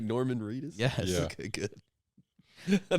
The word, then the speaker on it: Norman Reedus: Norman Reedus? Yes. Yeah. Okay, good. I thought I got his name wrong for a second.